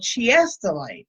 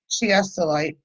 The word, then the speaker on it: Chiastolite: And Chiastolite. It's in the description, but C-H-I-A, like chia.